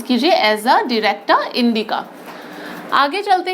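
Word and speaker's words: Azadirachta indica: ठीक है, नीम का क्या नाम है, जो बॉटनिकल नेम है एजा डिरेक्टा, इस तरीके से प्रोनाउंस कीजिए, एजा डिरेक्टा इंडिका।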